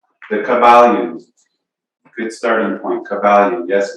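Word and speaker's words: Kybalion: The Kabbalion, good starting point, Kabbalion. Yes, it sounds like Kabbalah, spelled slightly different.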